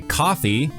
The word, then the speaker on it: Ko-fi: We also started a coffee, which is spelled KO-FI, for those who want to show their appreciation but don't really want to commit to a monthly donation.